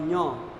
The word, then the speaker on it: ञ: इसका शुद्ध उच्चारण है क ख ग घ ङ, क ख ग घ ङ। दूसरा है च छ ज झ ञ, कोई खाली वाली नहीं होता। ये बेवकूफ़ है जो लोग